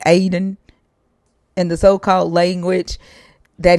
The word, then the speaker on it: Eden: That is the correct way to say Eden. It's Aden. America, westernized, says the Garden of Eden, but it's actually Aden. Aden.